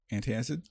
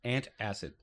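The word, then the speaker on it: antacid: box anti acid yeah anti- acid anti acid but you're you're adding another syllable where you don't have to and acid umbrella I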